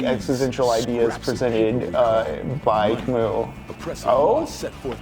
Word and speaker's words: Camus: I'm gonna be honest, I first found Camus because, Camus? Sometimes I still say Camus because I found him on Wikipedia as a middle schooler and I didn't know the French pronunciation.